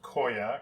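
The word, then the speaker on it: khoya: much the same way I believe it is pronounced Koya KH o Y a is the spelling I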